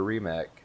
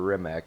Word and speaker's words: Rimac: same battery pack that our Rimac developed, or Rimac depending on your pronunciation, developed and uses in the Rimac C2 now.